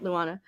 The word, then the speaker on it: Luana: How do you pronounce her name? Luana or Luana? Luana Vecchio. Luana. Yes.